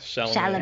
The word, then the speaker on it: Chalamet: Chalamet, is that correct? Yeah, Chalamet.